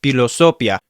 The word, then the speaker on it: philosophia: You could say that, but it's better to say philosophia. In original classical Latin, the PH was said like buh in English.